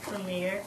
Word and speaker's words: Premier: what's your full name Premier oh my gosh what a beautiful name Premiere how do you spell it P r e m i e r just like a Premiere that's awesome and how